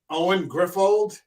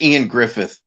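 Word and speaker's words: Ioan Gruffudd: Clive Owen Keira Knightley Owen griffold stellen school it's pronounced it's pronounced Ian Griffith Ian Griffith uh Stephen even the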